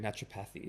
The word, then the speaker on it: naturopathy: I was calling it naturopathy. It's fine. Naturopathy, naturopathic, it's all the same.